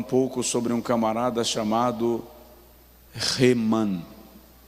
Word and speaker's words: Heman: E eu quero falar um pouco sobre um camarada chamado Heman. Na nossa língua, na nossa tradução, está escrito Eman, mas a pronúncia é Heman.